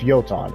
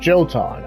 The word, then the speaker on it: Jotun: It is pronounced Jotun. It's not Jotun.